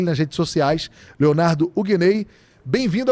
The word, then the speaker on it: Hugueney: Não confunda Huguenay, esse sobrenome Huguenay, com Huguenay. É Huguenay mesmo, como eu pronunciei agora, tá?